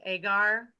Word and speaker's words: agar: bacteria that can't be cultured on is it pronounced agar yeah so do you have any way of